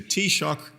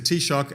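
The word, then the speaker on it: Taoiseach: Ahern was the and I was coached in this pronunciation by my taxi driver yesterday was the tea shock to us was the tea shock at the time in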